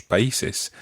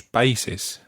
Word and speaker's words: país: Now, that word país is a word that people often pronounce wrongly. País. País. And in the plural, países. Países. And it's the accent on the I that makes it país. País. País. It's spelled P-A-I with an accent S.